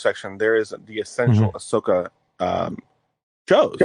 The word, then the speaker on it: Ahsoka: doing good thanks um so I'm watching Ashoka you mean Ahsoka is that how you pronounce it yeah it's Ahsoka they say it a